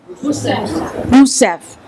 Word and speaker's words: Rousseff: Rousseff.